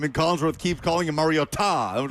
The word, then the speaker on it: Mariota: that's like Mariota, Mariota. Yeah. The phonetics. Of Mar-E-O-Ta Yeah. is what it says.